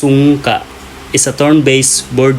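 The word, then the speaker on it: sungka: kicks the most wins the last is sonka it pronounced sunka is a turn based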